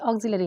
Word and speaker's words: auxiliary: की स्पेलिंग है वो, तो बट ऑक्सिलरी की स्पेलिंग यहाँ पे ऑक्सिलियरी होता है, स्पेलिंग उसका लियरी में होता है, बट हम उसको प्रोनाउंसिएशन जब हम करते हैं प्रोनाउंस करते हैं तो उसको हम ऑक्सिलरी वर्ब बोलते हैं, यानी ऑक्सिलरी।